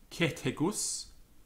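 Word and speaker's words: Cethegus: So CH and TH and PH are like K, T, and P, followed by the letter H. So Bacchus, Cetegus, Poibus.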